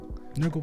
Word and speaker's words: Nurgle: Gurgle. Nurgle would like that. I know he would. It rhymes with his name.